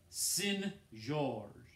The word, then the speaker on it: St. George: George he said and where I come from it's pronounced sin George does one Jesse said